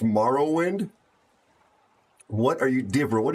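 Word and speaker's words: Morrowind: It's pronounced Marowind.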